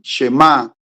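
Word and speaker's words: שמע: Oye y este oír chemá en hebreo los que les gusta anotar se escribe ese ham y tilde en la el acento va en la última llamada sham a tildenesa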